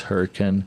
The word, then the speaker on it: Hurricane: I know it's spelled Hurricane, but the pronunciation is Hurricane.